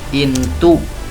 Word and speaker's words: into: Nulisnya pakai O tapi dibacanya U. Insert into, masukkan ke dalam atau ke mana.